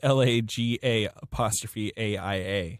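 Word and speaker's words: Laga'aia: Jay Lagaia. Who? Lagaia. I don't know how you say his name. It's LAGA''AIA. Okay.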